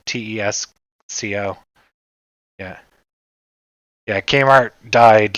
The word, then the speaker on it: Tesco: to the local Tesco Tesco or Telco oh it's Tesco tees Co yeah yeah Kmart died